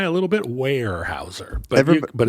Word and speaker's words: Weyerhaeuser: Weyerhaeuser? Weyerhaeuser. Yeah. It's got a Y though. Yeah, but don't say it. It's a silent Y. Don't say the Y.